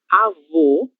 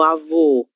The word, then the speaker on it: avô: Um exemplo disso são as palavras avô e avó, certo? No avô, a gente tem os lábios quase fechando, um som fechado, ele tem